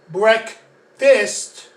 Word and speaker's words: breakfast: fast that's the middle but when you have breck fist the k is the middle so that's why you have to pronounce it like that now what i'm going